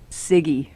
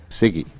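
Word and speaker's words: CIGIE: right that's it c-i-g-i-e how do you pronounce it siggy siggy as chair of siggy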